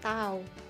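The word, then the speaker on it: τ: gaya torsi simbolnya huruf ini huruf Yunani ini dibacanya tahu torsi ini adalah kecenderungan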